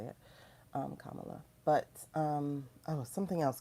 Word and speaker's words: Kamala: Um, Kamala.